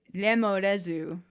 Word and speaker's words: lemures: The Japanese pronunciation of lemures is lemorezu.